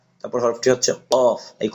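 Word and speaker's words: ق: ফা তারপর হরফটি হচ্ছে কফ। এই কফের উপর দুই নোক্তা। এই হরফটি একটু ধাক্কা দিয়ে পড়তে হয়। কফ ঠোট জায়গায় থাকবে ঠোট গোল হবে না।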